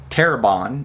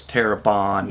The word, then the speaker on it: Terrebonne: We also went to a little town called Terrebonne. That's how we were told to pronounce. We all kept saying Terrebonne. Yeah, but we were saying Terrebonne. One of the we were locals told- said it was Terrebonne.